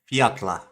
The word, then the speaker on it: Fjalla: So they spell it Fjalla, and he says Fiatla.